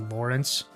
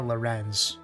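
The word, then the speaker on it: Lorenz: for me to know that his name is actually Lawrence. It is actually like Lawrence like L a w like Lawrence. So, but it but like it it really is typed like it is spelled Loren. So, it feels like I want to call it Loren.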